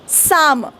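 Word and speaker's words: psalm: मध्ये वगैरे असतो हा यांची स्पेलिंग ना पीने का सुरू होतीय जर बोलायचच नाहीय पी तर या पी च कामच काय तिकडे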